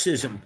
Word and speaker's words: schism: Well, it's pronounced schism usually, not schism.